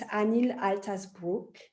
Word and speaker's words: Anil Altas Brug: I'm very happy to have her, and it's Anil Altas Brug. Is that right, how I pronounced it?